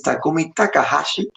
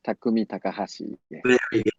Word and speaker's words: Takumi Takahashi: it me you're the correct pronunciation of your name is Takumi Takahashi yes Takumi Takahashi we know in our lives for example that's